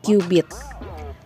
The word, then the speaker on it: cubit: Ditulisnya cubit ya, tapi dibacanya kubit.